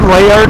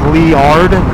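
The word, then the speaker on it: Liard: get to uh leard I said lard lard but it's actually Lee like the name Lee l e e although it's not spelled that way but I've been told by the locals phonetically it's leard so once you get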